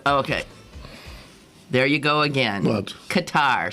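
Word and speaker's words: catarrh: i was saying okay there you go again katar spell it c-a-t-a-r-r-h i think that's right it's so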